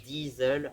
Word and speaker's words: Diesel: Enfin, en allemand ça se prononce Diesel en vrai.